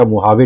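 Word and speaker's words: Mojave: Temperature record किया गया मोहावे desert में। ये जो जे है इसको एच प्रोनाउंस किया जाता है स्पेनिश भाषा में, तो अमेरिका की कैलिफोर्निया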